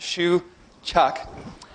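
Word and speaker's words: Shewchuk: advanced programming I'm Shu chok my last name is pronounced Shu chok my email is j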